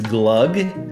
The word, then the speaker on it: glug: and my character is glug so that is pronounced like the swedish mulled wine and that is no